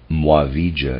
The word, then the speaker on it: Muavija: uh readers aside muavija is spelled m-u-a-v-i-j-a mwave end of readers aside